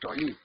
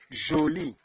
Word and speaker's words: jolie: your own pronunciation because some people need to say jolly it's not johnny jolie the way we read